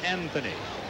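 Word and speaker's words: Anthonia: Anthony, spelled A-N-T-H-O-N-I-A, pronounced Anthony.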